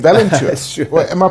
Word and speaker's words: Valenture: And I'm very curious as to how you came up with the name Valenture. Sure. Well, am I pronouncing it correctly? Pretty close. So it's actually a portmanteau of valiant and adventure.